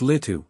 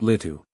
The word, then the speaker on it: Lìtuh: It's Lu, not Lu.